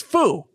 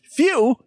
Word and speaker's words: Fu: it to be pronounced phew there would be two need to be a Y in there or an E his name is Fuu he's pronounced literally how it's you know spelled same thing with zama